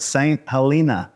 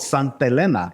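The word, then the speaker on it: St. Helena: to Napa call it St Helen and we always joke Helena is in Montana the H is silent because it's actually called Sant Elena it's actually a Spaniard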